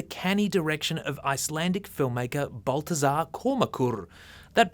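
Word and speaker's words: Baltasar Kormákur: schlock is the canny direction of icelandic filmmaker baltazar komakur that pronunciation is perfect don't bother to google it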